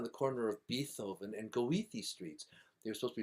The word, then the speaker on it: Goethe: But that Goethe, it's written as OE because there's a very strange vowel in German. Normally it's an O with two dots over it.